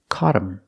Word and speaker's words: caught him: I say him pronunciation cotum if I talk about more than one person them the word is not stressed so you don't hear the th and again the t is a fast D caught him caught him